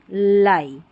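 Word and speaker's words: lie: पाई, टाई या डाई ऐसे पढ़ेंगे, और ये लाई।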